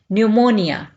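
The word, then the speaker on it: pneumonia: निमोनिया निमोनिया यहां पर पीछे जो है यह साइलेंट होगा इसको नहीं पढ़ा जाएगा न्यूमोनिया नए से जल्द की कोशिश डर्मेटाइटिस डर्मेटाइटिस है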